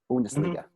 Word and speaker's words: Bundesliga: Bundesliga.